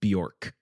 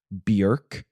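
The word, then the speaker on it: Björk: rally behind me in saying that it's not pronounced Bjork oh really it's pronounced Bjork Wow my whole world has been turned upside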